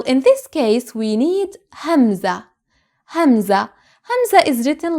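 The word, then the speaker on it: همزة: call it alefanza and some call it hamza but please don't ever call it alif because it doesn't sound like alif and it doesn't function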